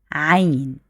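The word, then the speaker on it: عين: iron and rain equals deep sound of a but eventually it's special for the Arabic language you say it like Ein also Ain has four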